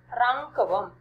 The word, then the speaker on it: राङ्कवम्: छात्राः अत्र उच्चारणभेदः अस्ति, किञ्चित् अवगच्छन्तु. राङ्कवम् अत्र बालकाः प्रमादं कुर्वन्ति. यहाँ पे बच्चे गलती करते हैं. एतत् अनुनासिकम् अस्ति. राङ्कवम्. राङ्कवम्. पुनरेकवारं राङ्कवम्. राङ्कवम् means shawl.